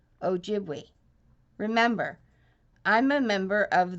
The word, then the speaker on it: Ojibwe: my Native American tribe you say it like this o jibli see Ojibwe remember I'm a member